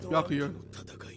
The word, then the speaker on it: Byakuya: Byakuya. That's how you pronounce it.